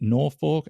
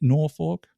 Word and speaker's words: Norfolk: Have you been able to find a trail community, for want of a better term, up in, is it Norfolk?